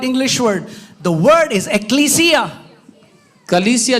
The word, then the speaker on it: ecclesia: The Greek say ecclesia. और जो यूनानी लोग हैं वो एक्लीसिया. Say it like this. Ecclesia. बोले एक्लीसिया. Come on, guys. एक्लीसिया. We are teaching you the right pronunciation.